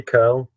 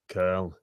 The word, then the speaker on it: Köln: The Germans would say Köln. Köln.